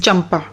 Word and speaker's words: चंपा: अब चंपा मतलब देखो यहाँ पे पुरानी जो इंग्लिश है ना उसमें C इज़ फॉर CH की प्रोनाउंसिएशन भी C से ही होती है, तो CAMPA इज़ चंपा।